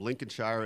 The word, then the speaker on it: Lincolnshire: He's a 6'3" junior from Lincolnshire, Illinois.